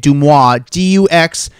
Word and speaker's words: Deuxmoi: Make sure you follow her at Duxmoi, Deuxmoi. That's how you say it, Deuxmoi.